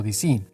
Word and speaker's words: DS: DS pronunciado en francés suena algo así como DC, pronunciación que también suena similar a diosa o cercano a la divinidad.